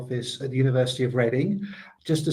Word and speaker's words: Reading: at the University of Reading. Just to say it's pronounced reading, although you might read it as reading.